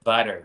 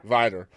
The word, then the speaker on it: Vidor: yeah so you're originally from the is it pronounced vdor or is it Vidor area vider vider and that's just outside of Bowmont which and